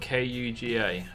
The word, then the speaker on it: Kuga: Oh, how about cougar, but spelled K-U-G-A? I think it's a Ford car, it is, but K-U-G-A, cougar.